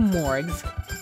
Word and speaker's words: Morgs: So, from now on, I'm gonna call you Morgs. Morgs! M-O-R-G-S. And with a hard G, not a soft one, just so there's no confusion.